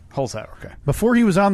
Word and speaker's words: Holzhauer: It's Holzhauer. Holzhauer, okay.